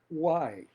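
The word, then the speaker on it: οὐαί: La palabra griega que significa ay es why. Y vemos que su pronunciación misma suena como una queja, como un lamento.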